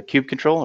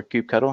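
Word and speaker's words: kubectl: it also works with the cube control or cube cuddle however you prefer to pronounce it it's also portable so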